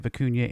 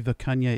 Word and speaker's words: Vikunja: Yes, I know, I was pronouncing it wrong, and I probably still am, but I had a viewer correct me on that, so hopefully Vikunja is the right pronunciation.